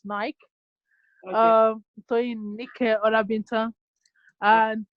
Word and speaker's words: Nike: Well, it's been pronounced as Nike, but I pronounce it as Nike.